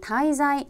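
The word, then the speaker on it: 滞在: 이 단어는 " 타이자이 " 라고 발음 하며 , " 타이자이 " 는 단순히 어딘가 에 머무르는 것 을 의미 합니다 .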